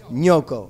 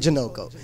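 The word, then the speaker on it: G'nocco: Nyoko. Okay, right. I just had to make sure that I get that pronunciation right because I always just called it Janoko.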